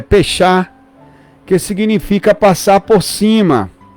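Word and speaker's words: פסח: Páscoa vem do hebraico em hebraico a pronúncia é fechar que significa passar por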